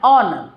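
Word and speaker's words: honour: एन ऑनर ऑनर में हमारा H silent होता है और साउंड आता है ऑनर।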